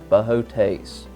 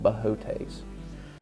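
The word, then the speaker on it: Boötes: for it's in the constellation bohotase yes i took a long time to learn how to pronounce that right i still doubt myself but i am about 90 percent sure this is called bohotes you can continue this arc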